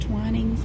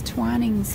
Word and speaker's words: Twinings: Then we have, I believe it's pronounced Twinings.